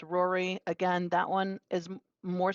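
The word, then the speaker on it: Rorai: the next one um is r-o-r-a-i three-year-old female pronounced Rory again that one is more sensical but why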